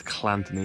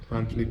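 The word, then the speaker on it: Llanthony: I think it's Llantony, how they say it.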